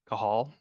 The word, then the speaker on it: Cajal: name is uh ker kahal which is spelled a little weird so I usually go by Cal but I'm the associate